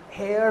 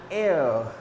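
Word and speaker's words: heir: okay a question let's go like that and hair nibbles we will not pronounce the given word like and hair if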